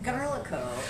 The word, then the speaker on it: Garlikov: Garlikov. It's like garlic with an O. Okay. The V is silent.